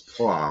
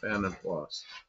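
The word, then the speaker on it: Vanden Plas: And I always thought it was PLA like it was French, but it isn't. It's they pronounce the S. Van Plus.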